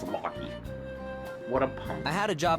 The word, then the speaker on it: Logy: People usually call me Logy, and I think I've grown to like that name. Of course. Of course I say it wrong. I use the pronunciation I think's gonna work. It's Locky.